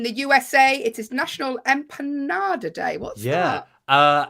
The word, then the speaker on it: empanada: Enjoy your empanadas.